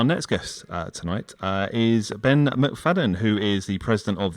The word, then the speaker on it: McFadyean: a show our next guest tonight is Ben McFadden who is the president of the borussia dortmund